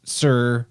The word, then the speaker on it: Tyre: Because when you break down the name, you have Tyre, which is also the Phoenician capital, that it would be pronounced Sir by the Phoenicians.